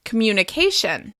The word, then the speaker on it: communication: As you can hear, communication is stressed on the second to last syllable. I find a lot of people struggled to say this word correctly because the emphasis will be on a different syllable in their native language.